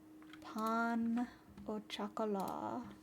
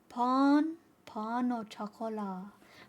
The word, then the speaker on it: pain au chocolat: Pain au chocolat. Chocolat. Pain. Let me see if I can fix that. Pain au chocolat.